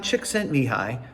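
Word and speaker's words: Csikszentmihalyi: 1975 a man by the name of mihai chick sent me high and oh yeah i learned how to pronounce it he coined the term flow for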